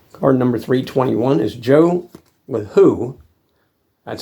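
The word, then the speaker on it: Lahoud: And Card number 321 is Joe LeHoux. That's how they pronounce it.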